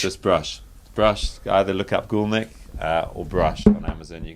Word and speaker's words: Goolnik: It's Goolnik, but I've given you the way to pronounce it. It's Goolnik. A lot of people get it wrong.